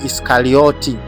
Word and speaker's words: Iskariot: Eh neno hili limetokana na neno la kiibrania ambalo lilikuwa linatamkwa iskariot kama unavyoliona hapo kwenye